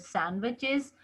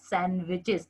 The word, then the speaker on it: sandwiches: One more point here, you can see the word sandwiches. D is silent here, so we pronounce it as sandwiches, not sandwiches.